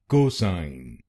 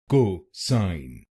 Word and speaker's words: cosine: cosine. This word has two syllables. cosine cosine will become cosine cosine.